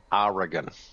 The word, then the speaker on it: Oregon: You know, the the correct way to say Oregon is Oregon. Oregon. Oregon. Yes. You can pronounce E if you want.